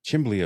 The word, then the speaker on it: chimney: Chimbley effect. That's the Schuylkill County pronunciation of chimney is chimbley.